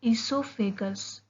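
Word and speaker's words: oesophagus: आता है second part, ईसोफेगस। इसमें ईसोफेगस जो है इसमें ओ साइलेंट है, इसलिए हम इसको ई से प्रोनाउंस करना स्टार्ट करते हैं।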